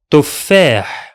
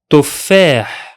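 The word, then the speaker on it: تفاح: The first one will be pronounced as Tuf, Tuf, and the second, Fah, Fah.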